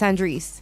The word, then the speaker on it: Andres: ry as V stop stop saying my name wrong it's Andres what the v4 oh